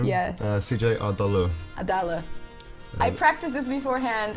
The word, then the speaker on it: Adali: CJ Adali.